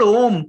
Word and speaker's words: om: is a quick introduction if you say ah Plus that is if you add these three letters syllables together you get the word om ah plus o plus m so why they chose